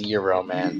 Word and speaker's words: Gyroman: gyro the gyro cutter i always pronounce him as euro man because that's the proper pronunciation yes but um i